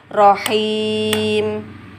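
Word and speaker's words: رحيم: Kemudian sehingga bacanya bukan rohimi tapi rohim, him.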